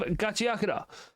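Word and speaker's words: Gachiakuta: Uh, next up we have Gachiaka. Uh, which I found out this week is how that's actually meant to be pronounced.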